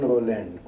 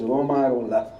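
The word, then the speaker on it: Romain Rolland: ramakrishna in Swami Vivekananda so generally people pronounce as women Roland but later on I learned that it should be pronounced as Roma and it is very near to Sanskrit in Sanskrit there is a Chandra of Hindu and we pronounce in that particular way so not in the English way so his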